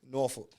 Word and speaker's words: Norfolk: Like, So how you say it? Norfolk. Norfolk. Like fuck at the end.